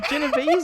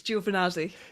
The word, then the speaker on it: Giovanazzi: No, you said Genovese or some shit. Oh, you've only just realised now that you've said it wrong, now that I'm bringing up trauma.